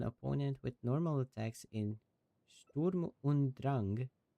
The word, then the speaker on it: Sturm und Drang: with normal attacks in Sturm und Drang, I believe is how it's pronounced because it's German.